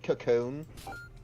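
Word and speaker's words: Kakon: It's meant to sound like Cocoon.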